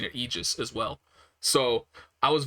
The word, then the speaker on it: Aegis: but i'm pretty sure they were pronouncing it aegis as well so i was very confused but now i know everything like everything that i just looked up has all said it's pronounced aegis so i believe him and that's how i'm